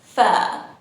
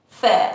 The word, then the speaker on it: fare: In British English, we say fare, fare, and we don't pronounce the R sound.